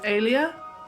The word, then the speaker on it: Elia: How I'm pronouncing is Alia.